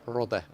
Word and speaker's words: Rode: And of course, without any risk from Robert's Roda or Ruode, because it's Rode. It's Latvian. Yeah. If you can see it's UO, in Latvian pronunciation.